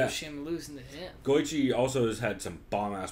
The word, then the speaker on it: Goiti: Is that how you're going to go ahead and pronounce Goichi Yamauchi's name? Is Goiti Yamauchi? Oh, Yamauchi, Shapauchi. Yeah, you nailed it. Definitely Goichi Yamauchi. Oh, Yamauchi. Yeah, I see it now. It's Goichi also.